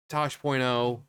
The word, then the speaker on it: Taash: stuff like that so Tosh.0 you know the name you pronounce it like Tosh so Tosh.0 uh so we're